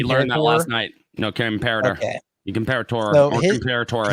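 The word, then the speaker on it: Comperatore: Forgive me, I can't pronounce his last name. Yeah, no, it's comparator. We learned that last night. No, comparator.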